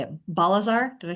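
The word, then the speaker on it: Balzaar: Balazar, did I say it right?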